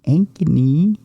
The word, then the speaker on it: Ankeny: Uh, tomorrow on the big program, Megan Ankne. I always double clutch when I go to say her name. Mhm. Because I want to make sure I say her name right. Megan Anney. Ankeny. Ankeny.